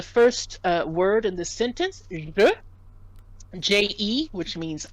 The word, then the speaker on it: je: So we want to try to get used to pronouncing the E as otherwise it can create confusion. So that first word there is je.